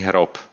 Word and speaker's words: hrob: Masový hrob.